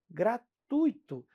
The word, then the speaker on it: gratuito: Gratuito. Não é gratuito. Se for gratuito, vai sair caro, tá?